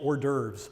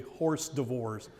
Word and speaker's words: hors d'oeuvre: It's funny because my mother always thought that was actually horse divorce. She would have people over, we're going to have horse divorce, and they would always chuckle, never say it in front of her, and us kids were like, Mom, it's hors d'oeuvre. Well, it's spelled like horse divorce.